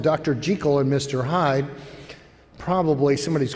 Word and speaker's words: Jekyll: Hyde, actually was a Scottish novel, and the proper pronunciation of the first name is Jekyll.